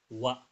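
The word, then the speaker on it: は: Nah, partikel ini kan dari huruf hiragana ya, dibacanya H. Tapi karena ini partikel dia dibacanya spesial. Jadi wa dibacanya wa ya meskipun hurufnya H.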